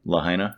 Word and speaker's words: Lahaina: one yeah yeah that's cool how do you pronounce it again lahaina lahaina mm-hmm i might have they got a